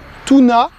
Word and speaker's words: Toona: appelle également acajou de Chine son nom latin tuna 6 Tunas ça s'écrit t o o n a alors pourquoi